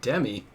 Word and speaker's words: Demi: The way she says it, Demi.